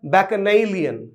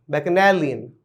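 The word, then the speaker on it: bacchanalian: ठीक है, इस शब्द का सही उच्चारण जो होता है वो होता है बैकनैलियन, बैकनैलियन। ओके, बैकनैलियन।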